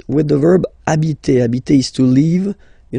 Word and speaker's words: habiter: And then here, I took this example or this verb just because, of course, it's starting with H, but as I said, you don't pronounce it.